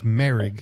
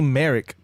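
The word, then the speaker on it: Moehrig: in the draft trayvon marig uh that's how you say his name it's merrig everybody i kept hearing them say merrick go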